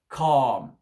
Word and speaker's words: calm: Donc, le L ne se prononce pas ici. We keep calm. On prolonge le A et on ne prononce pas le L, d'accord?